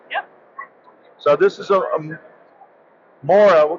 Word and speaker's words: Mora: so this is a MOA I call it a MOA or Mur if you're if you really want me to butcher the Swedish language but what what model